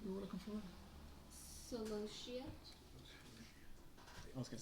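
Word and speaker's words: Celosia: Solosia. I was gonna say salacious. You might need to spell that for them.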